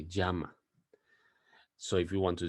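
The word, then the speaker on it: llama: say seama say Jama be very careful with the Double L because most people think that is pronounced Lama as in the animal and it's not that pronunciation is Jama now some countries in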